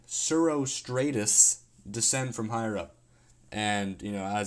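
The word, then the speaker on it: cirrostratus: up they're formed when zero Stratus uh zero such uh um I should probably look up how to pronounce this hold on uh yeah they're formed when surostratus descend from higher up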